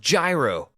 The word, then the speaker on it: gyro: Indian I'm sure he loves this place it's pronounced gyro all right vac gyro get it right I